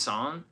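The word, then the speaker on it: Saint-Saëns: Son, Saintings is how you spell it, but pronounced Son and then France Fron Strauss.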